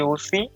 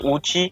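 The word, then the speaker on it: Ouchi: এবং ই Victor ব্রুম William G ও সি তার উচ্চারণটা অনেকে উচি উচ্চারণ করে অনেক জায়গায় ও সি উচ্চারণ করা হয় অধিকাংশ অপশনে ও সি দেওয়া কিন্তু ইংরেজি উচ্চারণে উচ্চারণ করতে গেলে উইলিয়াম যে উচি উচ্চারণটা হয় এটার উচ্চারণটা তার নামের যে উচ্চারণ উচ্চারণটা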